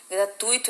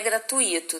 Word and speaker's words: gratuito: caneta é gratuito gente gratuito é uma paroxítona tá não é gratuito tá bom É gratuito junto beleza e Pública pública